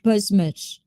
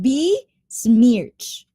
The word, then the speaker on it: besmirch: How do you pronounce that? Besmic? Besmic? Bish. Oh, well, maybe he hasn't sleep. Probably. Oh my gulay, TJ. I think you need to sleep, huh, TJ? Be smirch.